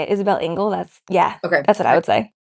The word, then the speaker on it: Isabelle Engel: Isabelle Engel.